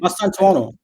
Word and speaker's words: Mastantuono: And then Mastu, how do you pronounce his name? Mastantuono.